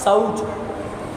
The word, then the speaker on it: शौच: सोच नहीं बोलना। क्या नहीं बोलना? सोच नहीं बोलना। क्या बोलना? शौच। औ की मात्रा है शौच।